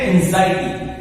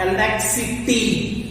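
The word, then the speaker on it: anxiety: ये वर्ड, ठीक है, एंजाइटी। अब ध्यान रखना इसका जो प्रोनाउंसिएशन इस वर्ड का, दिस इज नॉट एनेक्सिटी, क्योंकि आप ये सोचोगे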